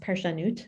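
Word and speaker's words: ParshaNut: a long time um called the parsha nut or pronounced parsha newt sort of a play on words um and he asks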